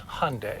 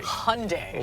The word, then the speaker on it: Hyundai: lexus's Toyota's luxury brand and how do we pronounce it it's Hyundai Hyundai like sunde like sunde that's a good way